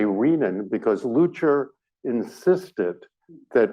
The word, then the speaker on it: renin: And I say renin because Lucher insisted that renin is pronounced renin, as in renal. It is not renin.